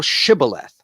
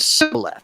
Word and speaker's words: Shibboleth: Then said they unto him, Say now Shibboleth. And he said, Sibboleth, for he could not frame to pronounce it right.